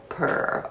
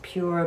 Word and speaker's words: PUR: maxx this palette barbie by purr or pure i think it's pronounced pure but i love saying it purr and this is the